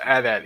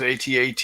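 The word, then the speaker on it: AT-AT: atat stand for and it's pronounced adat anybody that says atat is a heathen all-terrain armored transportation terrain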